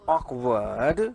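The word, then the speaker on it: awkward: फिर क्या लिखा है ऑकवर्ड, क्या है ऑकवर्ड। अब इसमें क्या हो रहा है ये जो डब्ल्यू क्या आपका साइलेंट है और इसका साउंड आ रहा है, तो क्या बनेगा दैट इज ऑकवर्ड का मीनिंग क्या हुआ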